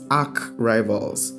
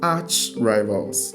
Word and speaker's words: arch rivals: way of pronunciation so the correct way of pronunciation is not AR Rivals but it is Arch Rivals okay so spark cannot